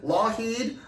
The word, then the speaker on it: Lougheed: We're here with Lougheed, silent G in that name, not Lockheed like Lockheed Martin, but Lougheed like silent G, like one of her projects.